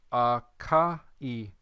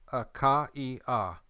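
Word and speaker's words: Ἀχαΐα: You have that mark right here. We're going to pronounce each letter akaia. We're not going to pronounce it akai.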